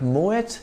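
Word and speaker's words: Moët: house in the world in French the letter at the end of a word is usually silent but Moet is a Dutch name in which the T at the end is sounded it is actually the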